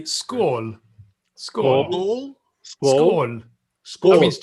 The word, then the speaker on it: skål: I live in Sweden, and in Sweden you say skål.